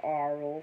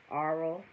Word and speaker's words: aural: So, aural, but she say it like oral. Oral, A-U-R-A-L, or oral.